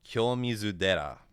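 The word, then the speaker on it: 清水寺: temple in Kyoto called Kyomizu Dera, and the Dera is what happens when Tera undergoes rendaku. You voice the first syllable, so it turns the T into a D.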